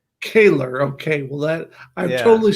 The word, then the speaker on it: Koehler: I'm here with Kohler, It's excuse me. it's And Koehler that's is how it's pronounced, actually. excuse me. Say it again. Koehler. Kaler.